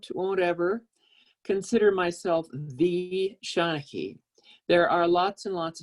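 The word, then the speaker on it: seanchaidh: And this, in typical Gaelic fashion, it's spelled S-E-A-N-C-H-A-I-D-H, but pronounced Seanachie. I am a professional storyteller, but I can't, won't ever consider myself the Seanachie.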